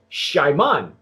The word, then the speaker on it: Xiaman: star is it gentleman the hopefully the correct pronunciation of this mezcal is called Shimon and rather than get